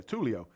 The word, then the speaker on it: Tulio: Yeah, Tulio.